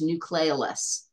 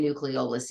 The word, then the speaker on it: nucleolus: You can sometimes pronounce nucleolus. I say nucleolus. Either one is correct.